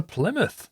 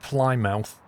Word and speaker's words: Plymouth: well motor all to Plymouth let's do it that's how you pronounce it by the way Plymouth not fly mouth limit what's the easiest